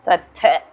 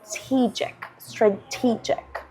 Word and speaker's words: strategic: When you read it, your mind, as a, for example, Spanish speaker, would want to pronounce it as strate, right? But we know by sound memory that it's strategic, right?